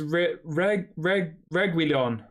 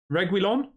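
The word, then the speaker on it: Reguilón: he's just spooned it Stefan says it's renounced regulon regulon is that how you say it regulon reg wheel on regulon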